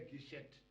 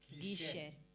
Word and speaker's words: guichê: O T não se pronuncia.